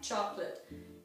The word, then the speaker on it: chocolat: Pain au chocolat literally means bread at chocolate. Some people here call it chocolate croissant. It's a pain au chocolat. There's a T at the end of chocolat, but you don't pronounce it.